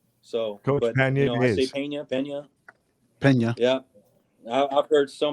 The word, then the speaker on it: Pena: correct pronunciation you know if you're from idaho you say pena like i got a pain in my side which to a lot